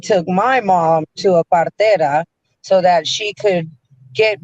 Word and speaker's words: partera: Partera is spelled Partera, partera.